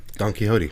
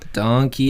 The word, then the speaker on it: Quixote: Don Quixote. Don Quixote. With an X in there, a silent X, pronounced H, right?